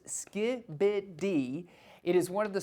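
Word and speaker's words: skibidi: And yes, it is pronounced Skiibid.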